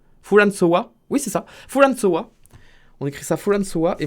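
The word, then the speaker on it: フランソワ: François Mitterrand qui, du coup, s'écrit Fulan... Fulanso Wa. Oh putain, c'est un Wa ça? Fulanso Wa. Oui, c'est ça. Fulansoa.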